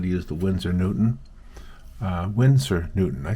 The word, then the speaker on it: Winsor Newton: Winsor Newton.